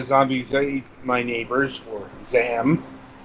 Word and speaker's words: ZAM: I suppose we should turn our attention to Zombies Ate My Neighbors, or ZAM. Zeman? However you want to pronounce it. It's silent like damn. Zam.